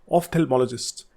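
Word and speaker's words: ophthalmologist: उसके बाद है ऑफ्थेल्मोलॉजिस्ट, इसकी प्रोनाउंसिएशन है जो जहाँ PH आ रहा है वहाँ F की आवाज़ आती है, ऑफ्थेल्मोलॉजिस्ट।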